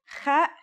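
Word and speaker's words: خ: Kha is a sound some people make when they laugh. It's also similar to the sound people make when they snore.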